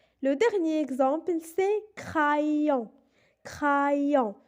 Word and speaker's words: crayon: Le dernier exemple, c'est crayon. Crayon. Dans ce mot, on a la lettre R et précédée de la lettre C, donc elle se prononce R.